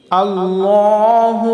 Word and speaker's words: আল্লাহ: আল্লাহু আমরা বলবো না আল্লাহু আমরা বলবো আল্লাহ যখনই আল্লাহ নামটা পাঠ করব তখনই আমরা কুর বা মোটা করে বলবো আল্লাহ এবং লামের উপরে